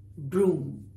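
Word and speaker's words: brougham: They were called broom.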